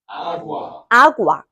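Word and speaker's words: agua: A가 아니에요. 아구아.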